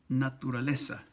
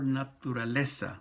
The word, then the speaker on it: naturaleza: Naturaleza, the T-U, tu. The tu syllable in Spanish is always pronounced with the tip of your tongue right touching the backside of your upper teeth. Tu. It's not like tu in English where the tongue is further back.